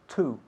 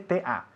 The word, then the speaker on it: to: Solemos pronunciar la preposición to, la pronunciación correcta es to. Sin embargo, cuando estamos hablando muy, muy rápido, solemos decir t, como si fuese ta.